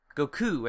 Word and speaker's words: Goku: Goku and Hits, united front. And yes, I pronounced it the Japanese way. 2 U's.